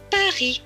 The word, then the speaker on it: Paris: prononcent à plus loin b majuscule avec à cela donne pas r&i herry suivi du ps mais qui ne se prononcent pas puisqu'il est en bleu donc selon va se lire pas ri paris c'est notre capitale la